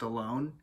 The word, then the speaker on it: Al1: that I learned that this album is actually pronounced alone so we're doing that one but we're doing